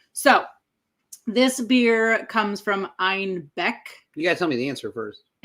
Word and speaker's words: Einbeck: When Munich started kind of experimenting with other breweries and other recipes, they mispronounced Einbeck as Einbach, which also means billy goat in German.